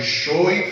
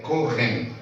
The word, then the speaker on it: Cohen: Paraná, e era Schoen, foi um erro de grafia e de pronúncia, tá? É Cohen, né?